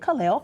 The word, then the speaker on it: Kaleo: And, you look at the word and you think, okay, maybe they pronounce it differently, but she pronounced it Kaleo.